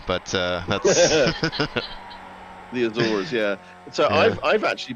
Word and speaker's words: Azores: I pronounce it Azores because I'm American, but that's... The Azores, yeah.